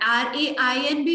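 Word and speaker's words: reign: word को बोलते हैं रणब रेन होता है ना बारिश होना आर आई आई जी एंड भी दें होता है इसमें जी साइलेंट होता है इसका मतलब होता है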